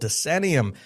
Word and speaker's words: Decennium: Also in here, we had North Stratton Pipe Band and their concert called Decennium, which I've been told I'm pronouncing correctly, which doesn't often happen.